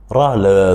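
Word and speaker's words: ر: Ra, c'est la même prononciation comme la lettre R en français. Ra. On roule la langue.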